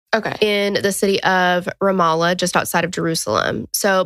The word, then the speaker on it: Ramallah: of, and I think I said it wrong, Nasrallah in Palestine. Okay. In the city of Ramallah, just outside of Jerusalem.